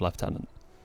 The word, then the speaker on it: lieutenant: also have never understood the um British English pronunciation of left tenant so I don't really